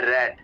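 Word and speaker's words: read: ब्रेड ब्रेड रीड रेड रेड इसको रेड pronounce करना है सेकंड और थर्ड फॉर्म को ये बता चुका हूं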